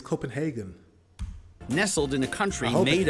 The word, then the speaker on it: Copenhagen: But he's saying Copenhagen, like a German. But it's Copenhagen.